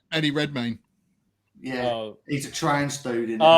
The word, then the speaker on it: Redmayne: Eddie Redmayne.